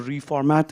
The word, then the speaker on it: refmt: Formatting, ReasonML has reformat, a tool called reformat. It's spelled as REFMT.